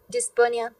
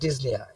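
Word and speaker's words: dyspnoea: ডিসপোনিয়া, ওকে, তো আচ্ছা ডিজনিয়া, আপনারা না এই উচ্চারণটা sorry this is ডিজনিয়া, this ডিজনিয়া আপনারা সাউথ ইন্ডিয়ান উচ্চারণ থেকে বেরোন। হ্যাঁ, this is ডিজনিয়া। Okay, P should not বি আটার্ড।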